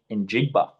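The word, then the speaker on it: Njigba: Chargers scoring eight points compared to Jay Smith in Jigba scoring 20 points.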